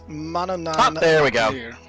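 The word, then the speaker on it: Manannán: Oh, and it's Mananan.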